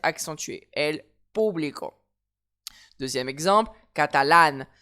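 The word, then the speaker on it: catalán: Elle publico deè exemple catalane. J'ai un mot j'ai un accent sur le A final. Je me pose pas la question. Catalane. Le a final de catalane va être accentué.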